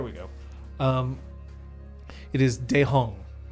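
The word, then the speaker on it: Daehong: a thing there we go um it is dejong spell that d-a d-a-e-h-o-n-g all one word yeah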